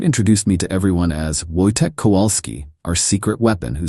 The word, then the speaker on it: Wojtek: By calling me? It's easier for Americans to pronounce. is three syllables, Wojtek. If Americans can say Schwarzenegger, they can say Wojtek.